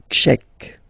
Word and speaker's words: tchèque: La République tchèque. So remember, QUE, Tchèque. La, and then here as well, République. La République tchèque.